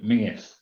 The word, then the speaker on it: Mingus: Yeah, it's a Scottish name, Mingus.